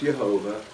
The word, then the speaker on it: Yehovah: Now in the Hebrew, again, the word, it's written Yod-Heh, Vav-Heh over 6,000 times, pronounced Yehovah, and it means I am.